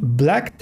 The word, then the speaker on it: blacked: He blacked out, que no va a sonar la E, como casi siempre, en el verbo en pasado.